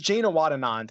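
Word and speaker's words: Janewattananond: behind it and now is the time jazz jayna watt Anand is sixty five hundred dollars that was a correct correct pronunciation of that and he is the 39th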